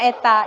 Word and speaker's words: eta: huruf N ya yang disebut dengan Eta ya bacanya Eta ini dia persamaannya dengan